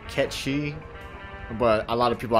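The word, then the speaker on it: Cait Sith: you want to pronounce it officially technically it's pronounced catchy but a lot of people I know always pronounced as Kate's if potato potato I mean I've got it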